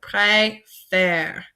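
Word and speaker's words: préfère: so prer and a whenever you see two accents like this together it's going to take the word up so pre and then the letter F and then the last part with this axon gra brings it down so a so pre fair so hopefully that helps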